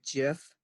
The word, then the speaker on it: GIF: which side you're on the man who created the jiff pronounced it pronounces it like peanut butter I'm not sure why since graphics has a hard G on it but so